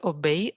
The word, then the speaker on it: obéit: Elle obéit à son fils. Elle lui obéit. Обеи, да, ударение. Obéit.